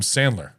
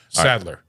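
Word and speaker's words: Sadler: uh the the KN is it William Sandler incorrect Saddler Saddler there is no in all right um I'll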